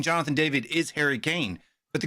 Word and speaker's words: Jonathan David: get him get him Happ get him happen Jonathan David that's how you pronounce his name by the way and I'll